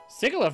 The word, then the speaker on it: Sigilyph: I keep forgetting I I always pronounce it with a hard G and I think it's actually supposed to be a soft G cuz it's digital I don't think